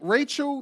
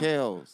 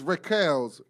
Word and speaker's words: Raquel's: I keep saying Rachel Jazz Lounge. Raquel's. It's Raquel's Jazz Lounge.